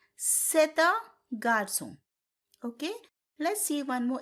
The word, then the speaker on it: c'est un: But when I pronounce the sentence, I said c'est un. The reason behind this is the first word ends with a consonant, next word starts with a vowel. So in French, you have to pronounce it together.